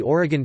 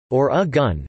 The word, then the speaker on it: Oregon: According to the Oregon Tourism Commission, present-day Oregonians pronounce the state's name as Or-a-gun, never Or-e-gon.